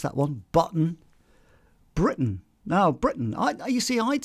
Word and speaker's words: Britain: we' we've discussed that one button Britain now Britain I you see I'd say Britain as oo as opposed to Britain Great Britain I wouldn't say that I go Great Britain and you can hardly hear the tea at